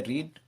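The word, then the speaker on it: read: फिर main verb है रीड, रीड की थर्ड फॉर्म बोलते रेड है, लेकिन स्पेलिंग यही होती है दोस्तों।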